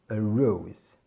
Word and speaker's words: rose: Ici on a une diphtongue, c'est-à-dire que dans la lettre O, finalement on aura deux sons.